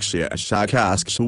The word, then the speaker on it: Shashakashu: of your human letters, something like Shashakashu with a very, very strong pronunciation of the SH and K sounds.